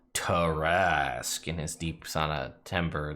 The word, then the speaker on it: Tarrasque: Tarrasque. There you go. So that's how you pronounce it.